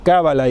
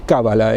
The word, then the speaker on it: Cábala: Nachman se dice, o Nachman en español se acentúan como Cábala y Kabbalah en la primera sílaba o en la última. En español es Cábala, en hebreo es Kabbalah, así se dice Nachman, pero en hebreo se diría Nachman.